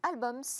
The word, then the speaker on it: Albums: Merci beaucoup, Taïk Chris, président de On-Off Télécom, fondateur du réseau social Albums, on le prononce à l'anglaise.